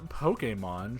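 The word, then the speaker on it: Pokémon: just okay let's see the Pokemon pronounced a Pokemon short for Pocket Monsters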